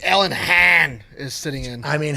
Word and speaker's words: Hahn: Hahn. H-A-H-N. Alan Hahn. Sound Han. Han? Yeah. Han? Yeah. Hahn.